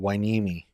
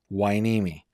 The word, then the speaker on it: Hueneme: Hueneme, which seems like the strangest way to pronounce it, but okay, Hueneme.